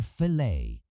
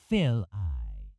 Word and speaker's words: fillet: Depending on how you say it, it's either fillet or fill-I.